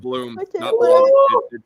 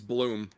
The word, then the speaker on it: Blum: more prominently I'm like Steve Blume it's bloom it's Steve Bloom really great yeah I'm